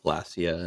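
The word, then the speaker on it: Glasya: even even if um is it glossier or glycer it's glossier right glacia is how i pronounce it g-l-a-s-y-a that's why okay even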